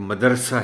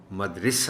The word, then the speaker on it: مدرسہ: زیادہ تر لوگ آپ سنتے ہوں گے کہ مدرسہ ہی کہتے ہیں، جو بے حد غلط ہے. اور اسی لیے میں کہتا ہوں کہ کم از کم غلط تلفظ کے حوالے سے مدرسے کو تو چھوڑ دو، علم کو تو چھوڑ دو. تو یہ لفظ مدرسہ نہیں ہے، مدرسہ ہے.